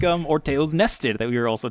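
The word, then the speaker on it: Orteil: Ortale, right? Yeah, I think Orteu is how it's pronounced. It's French for toe.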